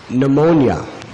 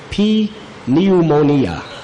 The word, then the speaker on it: pneumonia: just like the word pneumonia it begins with a P if you were to say to someone the pronunciation that's actually correct they would think you're illiterate if you said P pneumonia actually even some computer